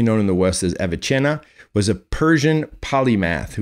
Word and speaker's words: Avicenna: before aquinas commonly known in the west as avicenna was a persian polymath who was regarded as one of the most significant physicians and philosophers and writers of the islamic golden age avicenna avasena as it's pronounced right is trying to reconcile the rational